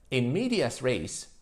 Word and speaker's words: in medias res: ends with its decline in media race or pronounced correctly in Latin in Med th literally